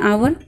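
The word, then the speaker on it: hour: हम क्या पढ़ते हैं, उसको हम हावर तो रीड नहीं, हावर रीड नहीं करते, उसको हम आवर रीड करते हैं. मीन्स आपका इस लेटर जो है वो साइलेंट हो जाता है और हम अपनी प्रोनाउंसिएशन अपनी प्रोनाउंस ओ से स्टार्ट करते हैं. तो ये आपका हो जाता है आवर.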